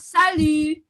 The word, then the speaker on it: salut: Nah, kalau kita mau ngucapin halo ke temen, kita juga bisa ngomong salut. Salut. Salut. Salut. Salut. T-nya nggak dibaca ya, salut.